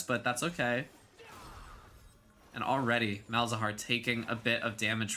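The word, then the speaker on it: Malzahar: And already Malahar taking a bit of damage from Sairo. Bizahar, please. Bizahar. Uh, I think in Spanish it's Mel Zahar, which Mel means honey in Spanish.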